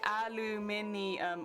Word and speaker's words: aluminium: because then you know because it spelt different you would pronounce it differently yeah yeah yeah but